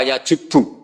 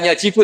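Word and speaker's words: يَجُبُّ: Itu bacanya bukan yajibu tapi apa? Yajubbu a yaq lah. Kalau pas ini kamu baca yajibu kan al islamu te islamu yajibu pusing kamu.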